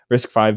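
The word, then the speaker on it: RISC-V: boards or risk V I don't know actually how you say it but I think it's five yeah is it five okay risk five boards and stuff too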